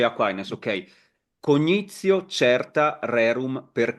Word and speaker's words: Aquinas: Saint Thomas of Aquin, or how do you say in English? St. Thomas Aquinas. Aquinas, you say Aquinas, okay.